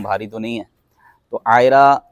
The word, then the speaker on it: عائرہ: تو نہیں ہے۔ تو عائرہ کے دو تلفظ ہیں، ایک الف کے ساتھ اور ایک عین کے ساتھ۔ الف کے ساتھ تو